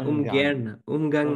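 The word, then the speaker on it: Ungarn: ও আচ্ছা উয়ান না উগানাং মানে হচ্ছে উনগার্ন তো আরটাকে উচ্চারণ করে না ওরা এভাবে বলে উগান এটা মানে হচ্ছে কে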